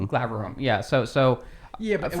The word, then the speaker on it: Glaurung: I'm gonna pronounce it wrong. Is like when you kill a dragon, it's Glaroom. Is that how you say? Glaurung.